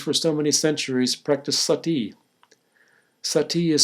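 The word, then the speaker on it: suttee: And seventh, if every society forbids murder, as Hitchens claims, why did Hindus for so many centuries practice sati? Sati is spelled S as in Sam, U-T-T-E-E, and you can look it up in Wikipedia or in any good encyclopedia.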